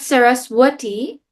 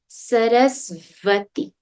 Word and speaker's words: Sarasvati: Now please remember, it's not swa, it's sva, right? The sound we learned was v. So it's not Saraswati, it's Sarasvati.